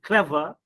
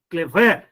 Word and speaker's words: clever: have adjective like clever so you see in all these words you are giving stress on you are giving stress on first syllable not on the second syllable we will not say clever keyboard happy no not like that table football toothpaste rainy